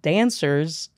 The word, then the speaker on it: Danswers: a great podcast called Danswers. Wow. I love that name. Dan Donohue, yeah, welcome. It's like Answers, but spelled with a D.